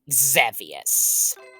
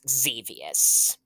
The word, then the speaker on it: Xevious: today I will be playing zavius some people pronounce the name as xus this is an iconic